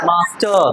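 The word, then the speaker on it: master: नहीं मास्टर क्या होगा मास्टर क्यों यह इ है ये इ है वोवेल लेटर के बाद क्या आया है आर आया है तो उसको क्या करना है साइलेंट कर देना है क्या कर देना है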